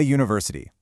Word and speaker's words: university: Look, we say a university. Why? Because even though it's spelled with a U, the first sound is U, a consonant sound where your tongue gets in the way.